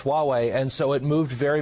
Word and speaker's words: Huawei: this announcement regarding the well how do you pronounce it Richard Huawei that's right H you awwe i doesn't it